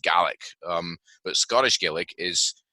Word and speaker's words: Gaelic: it or not Scottish gay um you know pronounced gallic um but Scottish gelic is is actually what's